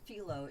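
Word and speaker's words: Philo: with now there is a service it's called filo you might be able to get it out there too it's spelled p-h-i-l-o yeah and you can get different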